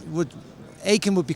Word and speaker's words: Aiken: complicated because it's an Old English names would Ain would be correct okay but I grew up in Germany so therefore in German you would pronounce it yeah I love it well thank you so